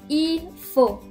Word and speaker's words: il faut: So this next one is, il faut.